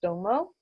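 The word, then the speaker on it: Tummo: This symbol is pronounced Domo, also known as the Tibetan master symbol of Tibetan Ta Ko Mayo.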